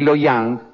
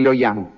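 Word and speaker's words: Luoyang: Hang, Shang Hang y Loyang, lo pronuncié mal, eh, es Shang Hang y Loyang, tenían una población de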